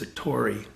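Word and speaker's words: 悟り: as opposed to delusion it's usually pronounced satori in japanese this character he used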